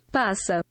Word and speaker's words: passa: Wait, let me check how you pronounce it. Passa.